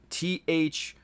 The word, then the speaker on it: Thernot: THERNOT. So Thernot. But it's pronounced Therno, I think.